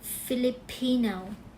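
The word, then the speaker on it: Filipino: ทัน ที นะ คะ ก็ จะ ออก เสียง ว่า philipin philipin นะ คะ โอเค นะ นะ คะ เน้น ที่ พิ แล้ว นะ ไม่ ใช่ เน้น ที่ ฟิ นะ คะ โอเค นะ stress เปลี่ยน นะ คะ ต่อ มา มา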